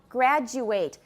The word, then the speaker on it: graduate: the same category so if it is a verb we pronounce ate an ate suffix as eight for example graduate i know i've mentioned